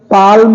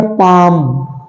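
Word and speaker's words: palm: ये पाम पाम है पी ए एल एम पाम L silent है बिल्कुल कोई साउंड नहीं आना है पी ए एम लाइक ऐसे पी ए एम पाम लेकिन एल है साउंड नहीं है एल साउंड साइलेंट है ओके अगला है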